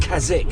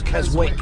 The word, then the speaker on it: Keswick: Not Keswick, it's Keswick. Right, got you. Because there's a place in England called Keswick. It's spelt the same, but we pronounce it differently.